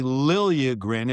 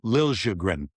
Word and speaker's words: Liljegren: So he wanted Tim Liljegren. So he went to Liljegren from Liljegren. So now it's Liljegren, and now it's Tim.